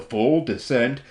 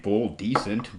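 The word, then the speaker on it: fulldescent: make an apology to full descent I just kept on pronouncing your name full decent but uh that's only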